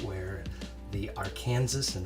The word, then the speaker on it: Arkansas: We're starting off in this area because it's right where the Arkansas, and that is how the locals pronounce it, Arkansas River separates that district and the downtown.